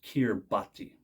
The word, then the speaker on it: Kiribati: and the Republic of kirbhati and again that's how we say it in English on kirbati they speak